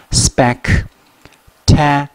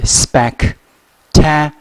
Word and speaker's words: spectacular: Spectacular，所以合在一起 Spectacular 四个音节 Spectacular，这个英